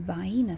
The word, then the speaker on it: Vienna: When you see this, you may say Vienna sausage. If you go to the south, that is not how you say it. We call them Vena sausages.